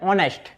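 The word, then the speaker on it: honest: जो ऑनेस्ट होता है ऑनेस्ट में एच क्या होता है साइलेंट होता है तो यहां पर हम सिर्फ ओ से डायरेक्ट प्रोनंसिएशन करते हैं तो दैट इज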